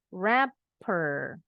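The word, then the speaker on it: wrapper: rapper kayaknya di double sama dengan rapper penyanyinya rapper bunyinya sama dengan pembungkus rapper gif rapper pembungkus kado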